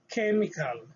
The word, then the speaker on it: chemical: uh they are pronounced as letter k as in chemical chemical okay chemical which